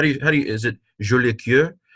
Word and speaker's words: Jolicoeur: How do you is it Jolicoeur? How do you say it? You don't say it in any way like that. Huh? Jolie was good, yes, but say cœur, cœur.